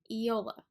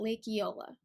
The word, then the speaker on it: Eola: lips around really close together really quickly EO Eola the event is at Lake Eola where is it Lake Eola that's how we